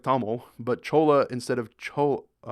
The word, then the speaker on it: Tamil: You say Tamar. Oh yeah, that's the symbol. You say Tamar instead of Tamil, but Chola instead of Chola.